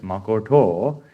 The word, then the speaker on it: Makoto: That's why, like, even though we say Makoto's name as Makoto, it's correctly pronounced as Makoto.